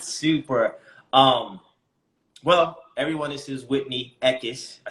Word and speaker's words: Whitney Eckis: Well, everyone, this is Whitney Eckis. I said that right, correctly? Yeah? Yes. You're nailing the pronunciation today.